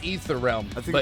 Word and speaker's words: Aether Realm: You know, it's like the silent A. So I just go with like a Scottish pronunciation, like Aether Realm.